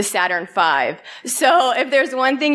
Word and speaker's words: Saturn V: a raffle downstairs and it's not the Saturn V it's the Saturn 5 so if there's one